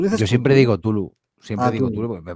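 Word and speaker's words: Cthulhu: ¿Cómo se dice cómo se dice Tulu, a ver?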